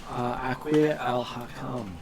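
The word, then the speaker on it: Aaqir al-Hakam: Okay, so our dwarven friend Dane recognizes him as the trade prince Aquir al-Hakam.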